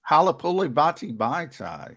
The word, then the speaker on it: Halapoulivaati Vaitai: You can pronounce it? Halapoulivaati Vaitai.